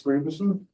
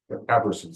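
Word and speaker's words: Gabrielsson: It's maintained by a guy called Max Gruberson. I think that's Gaberson, sorry. That's how you pronounce it.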